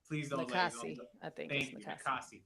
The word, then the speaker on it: Nakase: I forget how to I'm going to mispronounce her name. Nakase, please don't Nakasi, I think.